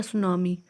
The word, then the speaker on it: tsunami: आप बोर्ड देखेंगे तो टेस्ट नमी होगा तब सुनामी तो इसको स्टार्स में साइलेंट होता इसलिए हम इसको सुनामी बोलेंगे ठीक है सुनामी का